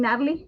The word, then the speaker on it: Nathalie: the word the name Natalie you see my hair and in Spanish I'm from Ecuador you don't pronounce the h the H is silent so it becomes Natalie so that's probably why